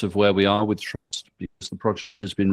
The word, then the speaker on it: TRVST: So trust stands for the traceability and verification system um however um we pronounce it trust.